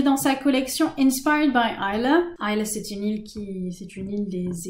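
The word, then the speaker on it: Islay: Je vous parlais de l'île d'Isla, ça s'écrit I-S-L-A-Y, mais ça se prononce Isla.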